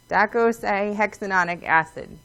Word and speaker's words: docosahexaenoic acid: Docosahexaenoic acid is how you say it, and that's what it's called.